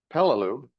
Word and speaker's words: Peleliu: Now, Peloo, how it's pronounced, is in the central Pacific, not very far from the equator.